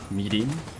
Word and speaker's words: mirin: thing, they're always like I know it's spelled like mirin, but everybody always goes meeting, which I guess is the proper pronunciation, but it's so hard to pronounce.